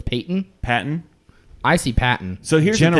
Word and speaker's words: Patton: Here's why I say it's Patton. Because one, it's spelled Patton. P-A-T-T-O-N. That's a gimme. Patton. A baton.